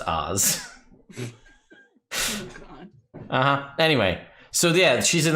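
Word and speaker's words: Ophz: would do it but the ph is silent it happened to oz in my my tuesday game so he's o p h z but it's pronounced oz anyway so yeah she's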